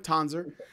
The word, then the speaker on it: Tanzer: I am here with, well, Phillip Tanzer. Is that how you pronounce it? Tanzer? Tanzer.